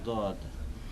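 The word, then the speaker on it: ض: দও নয় জও নাই, তবে মাঝামাঝি, জয়ের কাছাকাছি, মাঝামাঝি, দয়ের কাছাকাছি নয় বরং, বা দালের কাছাকাছি নয় বরং জয়ের কাছাকাছি।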